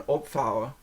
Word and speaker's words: opvouwen: And so, and then what you've got on the next one, opvouwen, is kind of the opposite, because opvouwen is spelled Opvouwen, and so that V sounds more like an F.